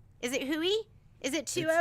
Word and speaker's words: Hoey: your name right because her last name is is spelled a-n Anila hoey h o e y is it Huey is it h-o-o-e-y hooey okay let's call her let's not call